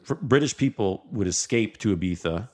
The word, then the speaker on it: Ibiza: It goes from Ibiza, by the way, I'm pronouncing it correctly.